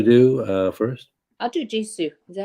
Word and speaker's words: Jisoo: um but there's there's just a picture of jisoo heian and Jenny and that's it this there's